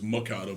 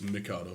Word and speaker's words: Mikado: I thought it was Mikado, but it's Mikado. Well, it's natural for an American to pronounce M-I, like it was, normally it'd say Mikado, Mm-hmm. but it's me, M-I, Right. Mikado.